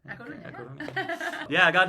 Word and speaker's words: A Coruña: A Coruña.